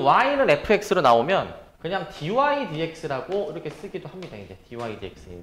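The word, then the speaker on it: dy/dx: 그래서 이제 저거를 dx분의 dy라고 읽는게 아니라 그 위에서부터 그냥 dy dx 이렇게 이제 읽어 주시는 겁니다.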